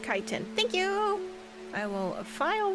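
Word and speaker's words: chitin: It's pronounced kiten.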